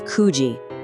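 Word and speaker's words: 九時: 9:00 is another little odd one, it's kuji.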